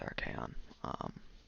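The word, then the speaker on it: Archaon: I gotta pick Archaeon or Archaeon. I'm gonna stick with Archaeon. Just because it's more the phonetic pronunciation.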